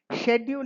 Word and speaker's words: schedule: So for uniformity schedule is now pronounced in US as schedule. Not schedule but schedule. S K E D U L E that is the way it is pronounced.